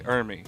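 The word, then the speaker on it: Ermey: Yeah, well, it's I always thought because I always thought you were saying his name wrong. You said it so much. it's R. Lee Ermy.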